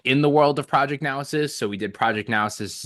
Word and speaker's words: Naosis: So Project Noasis, man, I keep pronouncing it wrong too. Naosis.